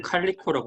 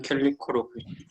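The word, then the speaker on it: Calico: 네, 그 사전에 단어 그 발음 기호를 보면 캘리코라고 옮기는 게 맞는 것 같습니다. 네, 그럼 캘리코로 이게 한국 사람한테 좀 친숙한 발음이 있고 좀 그런 게 좀 차이가 있긴 하거든요.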